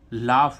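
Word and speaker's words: laugh: फ निकल रहा है एल ओ यू जीी एच लाफ लाफ means क्या होता है हसना देखो यहां पर भी यजीएच का उच्चारण फ हो रहा है ठीक है अब एच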